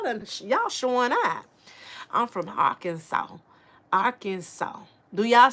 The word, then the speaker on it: Arkansas: Arkansas last s is silent. So Arkansas and I never be the same child.